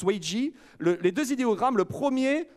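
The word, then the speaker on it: 危机: idéogrammes qui forment le mot crise qui se prononce wei ji les deux idéogrammes le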